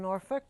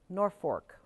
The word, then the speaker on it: Norfork: away all right welcome Norfork and Ridgefield Norfork right I want to put an L in there instead of an R I'm sorry if I